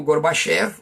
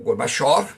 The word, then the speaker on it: Gorbachev: Então, em 1985, Mikhail Gorbachev, ou Gorbachev, dependendo da pronúncia, ele assumiu o governo e começou uma abertura do sistema político, que eles vão chamar de glasnost.